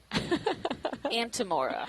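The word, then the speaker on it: Antimora: Antemora, not Amora. Oh, Antemora.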